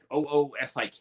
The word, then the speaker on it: oosik: Anyway, so yeah, it's called an usic. Oosik. It's spelled.